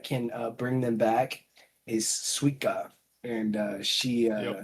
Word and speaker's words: Suika: Suika. Yeah. I like how they pronounce it.